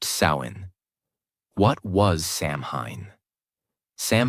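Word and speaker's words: Samhain: The night of the festival called Samhine, pronounced sain.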